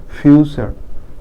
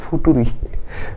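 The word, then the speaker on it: future: শুধু চা হয়ে গেছে কালচার কালচার মানে সংস্কৃতি ফিউচার ফিউচার okay F ইউটি ইউ আরই অনেকে উচ্চারণ ফুটুরি ফুটুরি না ফিউচার ওকে আমি ছোটবেলায় একটা টিচার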